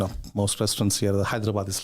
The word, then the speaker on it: Hyderabad: in the south south so you pronounce that hyderabad yeah yeah it's pretty close like pretty good pretty good for what i